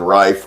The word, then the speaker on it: Reiff: We're going to go with the German pronunciation, Reiff, R-E-I-F-F.